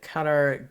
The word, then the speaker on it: Qatar: Qatar is what most Americans say. Yeah. I know. Qatar. I think Qatar is technically how you're supposed to say it in English, and then it's got like a different pronunciation in Arabic.